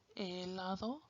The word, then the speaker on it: helado: But H is silent. Like when you look at helado, you don't say helado. Or hoja, you don't say hoja. Or hipopótamo, you don't say hippopotamo. It's helado, hoja, and hipopótamo. E.